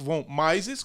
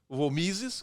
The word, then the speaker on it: Mises: Os 4 principais autores da Escola Austríaca de Economia é o Ludwig von Mises, como se fala em inglês, ou von Mises, que a gente fala no Brasil, o Friedrich von Hayek, que é o Hayek, né?